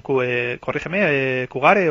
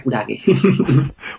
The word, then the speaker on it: Kurage: Es decir, ahora mismo estáis con la operación Kugare o... Kurage, que la pronunciación correcta en japonés sería Kurage.